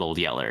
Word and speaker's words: Old Yeller: by the way that's that's why his he's called old yeller it's because he's literally yellow yeah and that's how they say it in texas and he's like there's